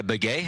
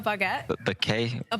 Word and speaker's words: baguette: If I had to choose one, probably a beay. I'm pretty sure that's that's like their known thing. Is it or something? Is that how you pronounce that? A baguette.